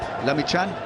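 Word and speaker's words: Lamichhane: the leg spinner really to do the job lemme chan that's how it's pronounced from nepal 18 year old prodigy 128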